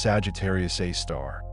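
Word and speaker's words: Sagittarius A*: Astronomers have named it Sagittarius A, pronounced Sagittarius A star.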